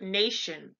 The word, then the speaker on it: Nation: So for instance, the word nation, we would say the word nation and it's pronounced in German Nation. So it's a Tsion, Nation.